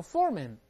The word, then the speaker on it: foreman: 还有 foreman 就是监工了。